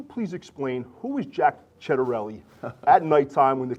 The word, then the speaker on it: Ciattarelli: I'm sitting with the Republican candidate for governor, Jack Chedarelli, and my colleague, Holly Finley from the Blue Magazine.